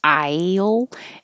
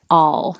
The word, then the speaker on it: I'll: an aisle doesn't have to be a perfect aisle it can be a flatter awl your tongue can stay flat instead of i i'll